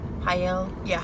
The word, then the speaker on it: Haye: Her bullet, Haye, that's how you pronounce it.